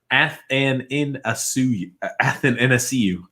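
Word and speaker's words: Athanasiou: TJ, it's pronounced Athanasiu.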